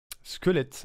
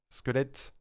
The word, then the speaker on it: squelette: finit par c'est lequel squelette ah ouais effectivement attends çaette P galipette boulette chouette il faut chouette squelette squelette squelette prononcer chaque lettre attention chaque lettre de